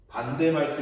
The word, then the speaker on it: 반데르발스: 반데발스 이렇게 해놨는데 이게 외국 사람 발음이잖아. 반데르발스 이렇게 발음하지 않고 반데르발스 이렇게 발음을 해요. 그래서 반데발스 이렇게 얘기하는데 아이고 르라고 적어줘야 돼.